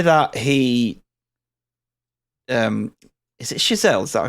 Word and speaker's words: Chazelle: just the way that he um is it chazelle is that pronounce it I just want to I want to yeah shelle yeah yeah the way that he films these